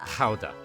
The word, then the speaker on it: Gouda: And it would be somewhere around 1184 when the first records of the famous Gouda showed up or pronounced how if we're trying to be Dutch about it.